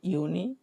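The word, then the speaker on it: Juni: তারপরে কি জুন যেটা, সেটা হচ্ছে ইউনি।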